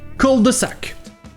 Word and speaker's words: cul-de-sac: Et la différence de prononciation ici, c'est que le son U en anglais n'existe pas vraiment. Donc à la place, le mot Q sera prononcé cul-de-sac.